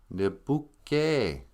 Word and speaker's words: nibuke: and, pronounce these words, Some people might look at this word and go, oh, is that nib ook, ook, nibuk, or something? And, so we decided, I'll pronounce it. Nibuke. E's sound like A in Ojibwe.